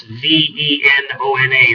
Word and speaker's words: Venona: and web search against the word Venona, which is spelled V like Victor, E-N-O-N-A. That's V-E-N-O-N-A, Venona.